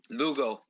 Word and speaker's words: Lugo: Lugo, you got it right. Lugo. Lugo. Lugo. I figured I had it right.